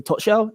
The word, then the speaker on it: Tuchel: that, your new manager is a tuchel. That's how you pronounce it.